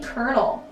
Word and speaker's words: colonel: nine we have the colonel and i hate how colonel is spelled colonial like c-o-l-o-n-e-l like where's the cur sound there's no r like what's going on anyway from a young